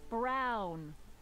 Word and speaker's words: Brown: bill to opee that's Emmett Brown rhymes with clown which I'm beginning to